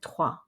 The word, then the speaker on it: trois: hedgehog or one again we don't pronounce the s at the end of trois four parts make note